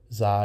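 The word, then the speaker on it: xi: And representing the voiceless consonant cluster, it is, its name is pronounced in modern Greek, generally Zai, or Zai in English.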